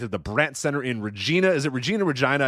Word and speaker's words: Regina: It is Regina. To super serve, not super severe. Rich. I don't know why I said super severe. Super serve. It's Regina, Rich.